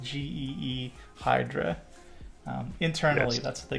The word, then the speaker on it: Ghidra: It's pronounced G E Hydra.